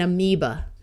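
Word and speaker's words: amoeba: so this is sapena this a will also schwa and amiba here are a few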